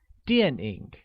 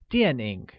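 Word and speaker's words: 电影: look movies translates to DNA which is pronounced with a falling tone on a and a falling rising tone on I like DNA good in Mandarin do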